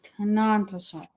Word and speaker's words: Tenontosaurus: these early big ones is tenontosaurus not vosa tenontosaurus yes not a thosa we we have